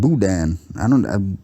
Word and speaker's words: boudin: It's pronounced boudin.